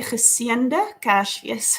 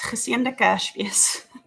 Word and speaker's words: geseënde Kersfees: We say geseënde Kersfees, geseënde Kersfees.